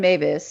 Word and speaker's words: Meiwes: So the last name is spelled Meiwes. Armin Mathews is kind of how you pronounce it.